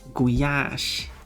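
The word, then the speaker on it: gulyás: That's how you spell it. Guyash.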